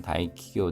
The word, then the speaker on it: 大企業: 다 타가 아니라 다입니다. 다이키교입니다. 다이키교 닫게 대화 대기업뿐만 아니라 추쇼기교 중소기업입니다.